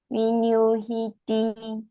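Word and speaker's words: viññūhīti: Veditabo Then the N is pronounced NY. Vinyuhiti.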